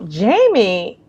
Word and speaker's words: Yeimy: But in Spanish, the Y is pronounced with a J, and J is pronounced or the H sound. So Yeimy is kind of a,